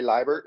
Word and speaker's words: Liebert: Ellie Liebert is how you pronounce her last name.